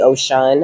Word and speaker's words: Oshun: But they told me that it's Ogun. Like Oshun is really Ocean, okay.